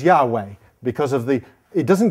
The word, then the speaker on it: Yahweh: as the tetragram um one way that you think it is to be pronounced is Yahweh the four the four letters this this and this and so they think that the pronunciation was Yahweh because of the it